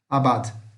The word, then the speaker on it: abad: Não, não é mudo, mas a gente não percebe muito o som dele. Ó. Abad.